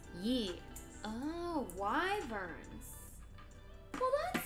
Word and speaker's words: wyverns: sound very intimidating right why are they pronounced wyverns why why verb nice one sounds like inquisitive plant oh it does it kind of sounds like why burns y ferns you know sounds like